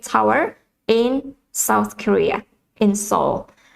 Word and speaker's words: Seoul: south korea the capital of south korea is seoul as many of you have probably know the